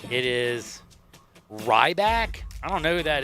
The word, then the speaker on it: Ryback: his name it is Ryback I don't know who that is I've never Ryback like R YB a r y b a k sorry um silent the silent k he he looks like